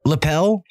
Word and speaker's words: Lippel: how you say it little right your last name no sir lapel it's lip it's lapel that's okay okay no